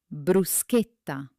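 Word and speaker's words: bruschetta: Many people outside Italy say, but look closely. There is an aka there, so it must be hard like a K. Repeat after me. Bruceeta.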